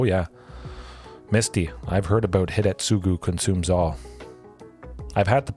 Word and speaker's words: Hidetsugu: Hidetsugu, yeah, that's how you pronounce it.